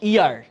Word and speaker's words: heir: এখানে হিয়ার, HEIR, ইয়ার, ইয়ার বা এয়ার বলা হয়, অর্থ হচ্ছে উত্তরাধিকার। তাহলে এখানে এইচের উচ্চারণ নাই, তাহলে কি হবে?